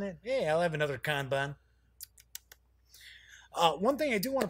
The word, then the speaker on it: Kanban: yes it is pronounced Kanban it almost sounds like a candy doesn't it yeah I'll have another con van one thing I do